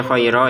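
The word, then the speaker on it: خيرا: Tulisannya khairon, kita baca khaira ya kalau berhenti. Maka kita panjangkan 2 harokat.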